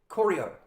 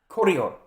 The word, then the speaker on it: Kolio: How do you pronounce that? Kolio. Kolio.